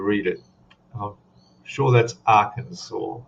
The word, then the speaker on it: Arkansas: I'm sure that's Arkansas. Arkansas. You pronounce the S? I don't think so.